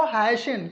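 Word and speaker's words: hasten: इसी तरह से अगर हम लोग देखें तो एच ए एस टी ई एन, तो यहाँ पर हम लोग इसको लिखते तो अकॉर्डिंग टू स्पेलिंग कुछ और है, लेकिन हम लोग पढ़ते हैं इसको हैशन।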